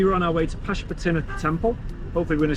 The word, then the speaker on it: Pashupatinath: after visiting this holy Pashupatinath. That's not how you say it. Pashupatinath.